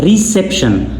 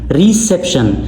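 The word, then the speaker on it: reception: रिसेप्शन रिसेप्शन से पर हमने जोर देना है।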